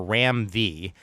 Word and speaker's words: Ram V: And the writer is, it's either pronounced Ram the Fifth or Ram V, and the artist is Sumit Kumar.